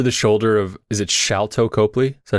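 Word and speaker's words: Sharlto Copley: Oh, That shot over the shoulder of, is it Shalto Copley?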